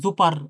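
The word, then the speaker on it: super: এটা কিন্তু আমরা যদি বলি জুপার অনেকটা অনেকে বলতে পারে জুপার আসলে এটা জুপার না জুপা হ্যা জুপা এটা আবার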